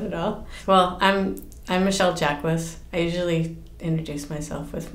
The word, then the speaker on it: Michele Jaquis: Well, I'm Michelle Jacquess. I usually introduce myself with my last name because nobody can pronounce it when they see it written.